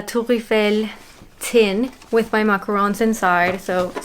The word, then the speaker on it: macarons: And here, of course, they know how to pronounce them as macarons and not macaroons. Please don't ever make the mistake.